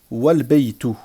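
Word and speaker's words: والبيت: Mais si je fais la liaison, je vais dire wal-baytu. Wal-baytu. D'accord? Là, lorsque je fais la liaison, mon alif, à la prononciation seulement, disparaît.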